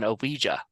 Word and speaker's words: Ouija: something different the Simon game was different than oija you know by the way that's how you